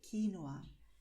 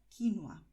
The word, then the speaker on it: quinoa: La manera más correcta sería quinoa. También se puede decir quinoa. Pero es muy común escuchar también quinoa. Puedes decirlo de esas tres maneras diferentes. Primero, quinoa, después quinoa y por último, quinoa.